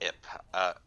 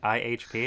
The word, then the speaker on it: IHP: Ip. Yeah, you don't pronounce the individual letters.